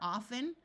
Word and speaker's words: often: two other common words where the t is silent are often although in some parts of the US the t is pronounced and Christmas notice that